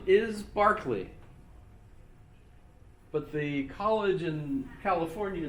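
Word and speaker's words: Berkeley: lose that page and by the way the pronunciation is Barkley but the college in California named in his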